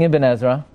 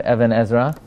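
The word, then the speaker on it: Ibn Ezra: so there's an interesting ebenezera the even Ezra at number nine in paris's boy which is this week's Parsha what do you know and please pronounce it Ebenezer not Evan Ezra um even Ezra says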